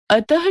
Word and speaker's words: अतः: जैसे अतः शब्द का उच्चारण तो अतः के रूप में होता है।